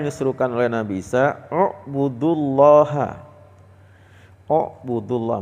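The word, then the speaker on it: اعْبُدُوا: Buudullah. Bacanya bukan i'budu ya, Pak atau a'budu a'budullah. Kita ngelihat huruf ketiganya. Jadi, alif ain, ba. Ketiganya domah, maka alifnya di domah.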